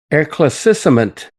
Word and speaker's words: éclaircissement: the final winning word, I'm bound to mispronounce this. The winning word was éclaircissement, which is not a discussion of chocolate eclairs,